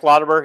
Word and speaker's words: Lauterbur: what it was like, they're for, is it Lauterbur? Is that how you say it? Frank Lauterbur, yeah.